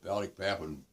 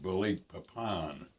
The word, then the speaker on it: Balikpapan: And they had this huge refinery in Balikpapan, Borneo, which was the source of most of the gas for the Japanese armed forces.